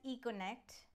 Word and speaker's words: Eco-N-Act: workshop for the children the name of the workshop was Eco and act which can be pronounced as econnect basically saying that we